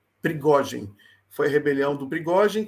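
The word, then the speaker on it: Пригожин: Como é que pronuncia o nome dele em russo? Prigogine. Prigogine.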